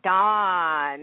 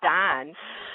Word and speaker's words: Dawn: Actually, you have to think of it like this. How do you pronounce the word yawn?